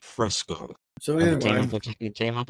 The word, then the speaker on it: Fresco: I did a quick Google search, and it's pronounced Fresco.